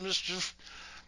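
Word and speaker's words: MSCHF: Nike not only disavowed any connection with the shoes, they sued Mischief, M-S-C-H-F, which I assume is pronounced Mischief. There's no vowels. Just run all that shit together.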